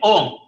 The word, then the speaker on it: Om: When they are, when these two are united at the center of the forehead, what do you get? Ohm. Dr. Shanmugamurthy was correctly pronouncing it. First, we start with when you close your lips, what happens? M is automatically formed inside. M means silence. So you get Om.